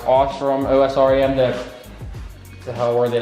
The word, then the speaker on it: Osram: They're the, I hate the brand, it's pronounced Osram, O-S-R-A-M, the hell were they?